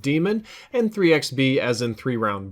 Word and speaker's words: Daemon: I know a lot of people would say the word Daemon, but that's kind of an older spelling of it. It's pronounced Demon, and 3XB as in 3-round burst.